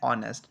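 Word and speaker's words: honest: क्या है वावल है एन ऑनेस्ट तो यहां पे ओ की आवाज आ रही है एच हमारे यहां साइलेंट होता है तो एन ऑनेस्ट आता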